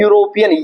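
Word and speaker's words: European: जबकि यहाँ ई आने की वजह से ई तो साइलेंट रहेगा, इसका प्रोनाउंसिएशन है यूरोपियन ये से, इसका प्रोनाउंसिएशन ये होने की वजह से इसके आगे ए का इस्तेमाल हम करते हैं।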